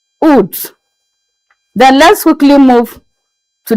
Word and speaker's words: août: In French, August is pronounced as août, août.